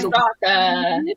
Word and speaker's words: Straka: So I don't know if you've heard of Brandon Straka. I'm not sure if that's how you pronounce his name. Yeah, Straka. Brandon Straka.